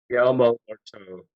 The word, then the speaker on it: Guillermo del Toro: and directed by, and I always pronounce his name wrong. Can you hit it, Buzz? Guillermo del Toro. Guillermo del Toro.